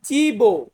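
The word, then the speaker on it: cibo: বেল্লিসিমো এরপর আছে চি চি চি দিয়ে হয় চিবো চিবো মানে হচ্ছে খাদ্য বা খাবার খাদ্য বা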